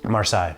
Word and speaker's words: Marseille: Marseille.